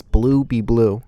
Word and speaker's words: Bluebebleu: People have pronounced it really wrong. They don't like know how to say it, dude. and stuff. and Fuck. let him know, Blue. How's it pronounced? it's Bluebebleu.